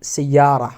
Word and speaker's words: سيارة: But if they are attached from another word, we have to pronounce it سيارة or مدينة without ta sound, okay?